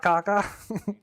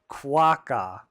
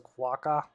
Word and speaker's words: quokka: picture so it's not Kaka well he said it rhymes with rock so quack that doesn't